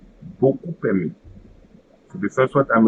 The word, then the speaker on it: beaucoup aimé: And finally, when the first word ends with P. So in this case, it will create another abstract P at the beginning of the second word. So, beaucoup aimé. Beaucoup aimé.